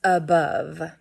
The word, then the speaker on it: above: So our first word sound is the A, okay, in above.